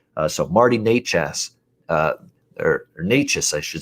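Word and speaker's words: Nečas: So I wouldn't even argue uh Martin Net Netash here for the uh Carol Marty Nous I should say is how you say it.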